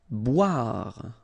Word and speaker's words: Boire: Boire. Okay, remember O-I, wa, bois, boire. Sourire.